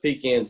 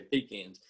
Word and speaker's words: pecan: always said that um about the pecan or pecan um pronunciation he had the best comeback i've ever heard he said it depends on if you're buying or selling if you're buying then